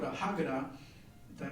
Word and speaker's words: Haggadah: Using a book called a Haggadah. Did I pronounce it right? Haggadah, thank you.